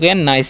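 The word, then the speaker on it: nice: तो हो गया सो और एन आई सी है तो इसे नी से नहीं पढ़ना एन का वचन न करना है आई का वचन आई तो हो गया नाई और सी रहता है ना उसका स होता है तो नाइस यानी कि सो नाइस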